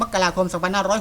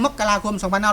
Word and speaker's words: มกราคม: ตลอด เลย ครับ เ อ่าน ว่า มกราคม ครับ ไม่ ใช่ มกราคม ท่าน แย้ง แบบ นี้ ครับ จริง ๆ แล้ว อ่าน ได้ 2 แบบ ครับ จะ อ่าน มา มกราคม หรือ มกราคม ก็ ได้ ครับ มกราคม ก็